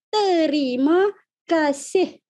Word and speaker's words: Terima kasih: Terima kasih. ¿Cómo pronunciamos esta expresión? Terima kasih. Sílaba por sílaba.